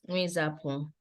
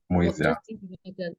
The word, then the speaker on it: Mwizapu: My surname is pronounced as Mwizapu. Mwizia. No, Mwizapu.